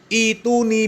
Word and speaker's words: ائتوني: Ya, kalau di wasol maka hamzah yang ada di belakang huruf alif ya itu tidak dibuang. Ya, fis samawati tuni. Ya, tapi karena di waqaf ya maka hamzah di belakang alifnya itu dibuang.